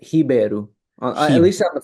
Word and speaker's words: Ribeiro: If you want to be, if you want to add some Latin twist to it, you can say. Rabiro, yeah. In Brazilian Portuguese, the R's make a h, H sound, so it's Ribeiro.